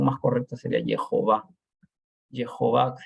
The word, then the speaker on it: Jehová: Jehová, si esta J se pronuncia como J, ¿no? No como H.